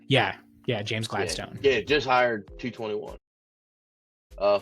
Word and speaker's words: Gladstone: you say it that's right yeah yeah James Gladstone yeah just hired 221 uh former LA Rams